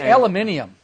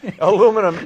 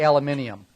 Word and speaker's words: aluminium: and I'm I'm I'm probably not going to say this right but it's aluminium no aluminum angle iron although iron I'm sure is not the right word since it's aluminum it's it's aluminum angle aluminum angle Alum angle right but it's really aluminium that's really what it's pronounced ask Trevor from whatever